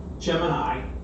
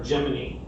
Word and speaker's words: Gemini: And we're going to talk about Gemini, or Gemini. There's two pronunciations of it.